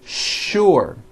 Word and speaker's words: sure: not know is that there are some words in English that are written with the letter s but are pronounced with the sh sound words like sugar and sure and to make things